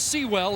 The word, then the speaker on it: Sewell: And it was Elmondo Sewell, and it is Sewell. He's asked us to pronounce it.